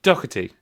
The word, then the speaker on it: Doherty: He tells us that the surname is the Irish version, even though he's Scottish. It's Mick Doherty.